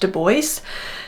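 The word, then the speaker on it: Du Bois: And although web deo knew that he had a French spelled and pronounced name, he explicitly wanted it to be pronounced doce.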